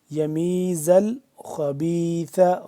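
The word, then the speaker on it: يميز الخبيث: यमीजल खबीसा यमीजल खबीसा जा को सख्ती से पढ़ेंगे जा मिल रहा है लाम के साथ बीच वाला जो अलिफ है ये साइलेंट है यमीजल खबीसा ख को मोटा करके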